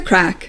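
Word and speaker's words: craic: Having the crack, spelled C-R-A-C-K. That's definitely not Irish. Having the crack, I mean, that would be like literally smoking a crack pipe. The Harlem version of cocaine. No, not Irish. Not Irish. It's spelled C-R-A-I-C, incredibly Irish. But I think it would get confusing if you spelled it C-R-A-C-K. What's the crack?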